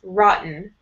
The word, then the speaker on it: rotten: Rotten. Rotten. So no ch sound here. Try it. Rotten. Rotten. Yeah, it's almost like there's no T at all.